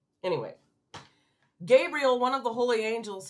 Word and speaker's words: Gabriel: I said his name wrong last time. I literally called him Gabriel. I'm sure that he was just like, wow. Anyway, Gabriel, one of the holy